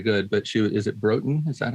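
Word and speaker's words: Broughton: geography isn't very good but she is it broken is that how you say it bro um yeah brought in it's about 35 minutes from where i was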